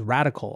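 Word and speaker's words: Radkl: individual capacity in a firm called radical although it's spelled r-a-d-k-l it's a quant trading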